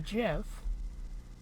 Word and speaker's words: GIF: no doubt in my mind that it's actually pronounced Jif because it's one of those things of the